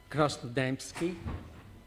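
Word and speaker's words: Krasnodębski: next member of the panel is this love crossed dymski was the pronunciation of your name for itself excellent Thank You mr.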